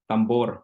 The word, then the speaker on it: tambour: And he's blending that history, especially the one of the tambor.